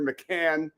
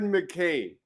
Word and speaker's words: McCain: hell is going on how hard is it to pronounce Jared McCain it was Jared mlan tonight it was Jared MC can these guys are drunk